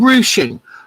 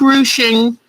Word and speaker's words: ruching: All right, so this is called ruching. Let me spell it. Ruching. And it, like I said, it's a French word.